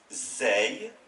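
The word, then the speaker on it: زاي: Et l'autre qui lui ressemble, avec un point dessus, cette lettre s'appelle Zey, Zey, et se prononce Z, comme un Z français.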